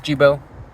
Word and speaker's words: Jibbo: This is Jibo. Rhymes with Cheeto.